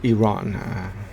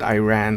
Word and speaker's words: Iran: The actual correct pronunciation of the country is Iran. Whenever someone by mistake they call it Iran, I ask them where to.